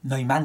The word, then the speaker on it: Neumann: Neumann, c'est comme ça que ça se prononce en allemand.